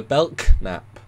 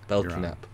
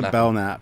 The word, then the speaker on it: Belknap: here we're doing the Belk nap you're wrong you're wrong belnap it's just the bellnap the K is silent for some reason I made that mistake